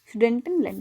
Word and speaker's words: Sudetenland: सुडेंटनलैंड।